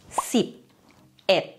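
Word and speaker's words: สิบเอ็ด: Par exemple, 11 se prononce sip, et.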